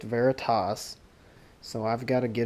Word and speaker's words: Veritas: veritas as i just learned I've always called viridis but I just learned on a booze website it's actually pronounced veritas so I've got to get over calling it